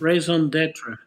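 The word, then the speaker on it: raison d'être: Yes, Raison d'etre. Yep, perfectly. I was holding myself to the pronunciation.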